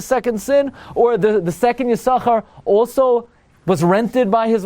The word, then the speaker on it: Yissachar: Yissachar's over. That's the way we're pronouncing it forever.